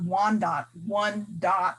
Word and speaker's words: Wyandotte: we considered it and the wyandotte or wanda one dot is is what our original pronunciation of our name which is people of